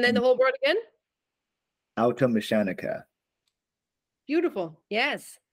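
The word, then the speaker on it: Automechaniker: Automechanica. Beautiful. Yes. Automechanica.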